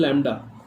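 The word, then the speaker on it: lambda: Pronunciate कैसे करेंगे, लैम्डा से प्रोनाउंसिएट करेंगे, ठीक है, हम लैम्डा बोलते हैं इसको।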